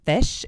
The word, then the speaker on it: Phish: what the big deal is with this band Phish? It's called Phish, but it's spelled Phish, and it's a band.